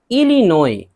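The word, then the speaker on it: Illinois: इलिनोय, इलिनोय एस है last में, नहीं पढ़ेंगे, ये अमरीकी सूबा है, ये भी अमरीकी सूबा है।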